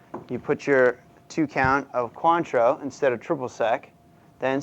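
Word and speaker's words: Cointreau: Looks like Cointra, but it's pronounced Quantro.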